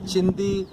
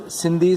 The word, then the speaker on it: Chindi: Chindi or Chindi or Sindhi, so it's like it has various pronunciations.